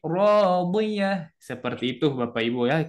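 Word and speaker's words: راضية: Jadi tidak dibaca 'ishatir radiyat. Nah, bukan radiyat tetapi radiyah.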